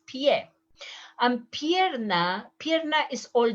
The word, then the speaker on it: pie: is food the plural ps is not a pie please it's not a pie it's pie and pierna pierna is